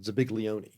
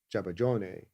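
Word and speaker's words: zabaglione: something that for years we called ziglion which is a a very anglicized version of the Italian uh jabon.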